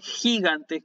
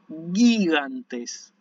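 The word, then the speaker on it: γίγαντες: Esto no se lee gigantes como leeríamos en castellano, sino que decimos gigantes, ¿sí?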